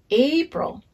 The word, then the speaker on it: April: like apples so april the a in april is a long a so we say a april and it's spelled a p r i l a pro april and april has two syllables will you clap them